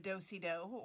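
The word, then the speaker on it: dos-à-dos: with you today and it's called a do a dou or in the united states we would probably pronounce it like which you might be familiar with from you know seventh grade pe when we had to learn square dancing and we did the dosie dough or the girl scout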